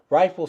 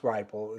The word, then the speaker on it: RIFL: RIFL stands for, and it is pronounced RIFL, it's RIFL, it's an acronym, it's pronounced RIFL, is an acronym that stands for Radio-Isotopic Feedback Loop.